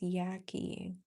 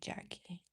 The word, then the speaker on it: Yakie: Like yak like yaking like are you going to talk a lot yaklin and it's maybe possibly look at me trying to have a conversation here with you.